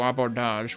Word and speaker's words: abordage: You've got the egregiously phoned-in arena battles on ships when you do abordage, which I looked up, that is how you pronounce it, that are basically like